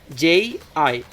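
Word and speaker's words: じ: And instead of za, zi, zu, ze, zo, that she becomes G. J-I. Not Z-I, but J-I.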